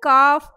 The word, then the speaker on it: calf: In calf, L is silent.